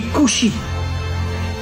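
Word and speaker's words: כושי: En hébreu, le mot noir se dit couchi. Alors, bien sûr, vous connaissez pas l'hébreux mais faites-moi confiance. Le mot couchi s'écrit en hébreu kaf va shin yud.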